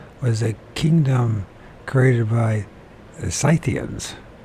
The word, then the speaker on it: Scythians: a kingdom created by scythians I always thought that they're skians but okay the skans of the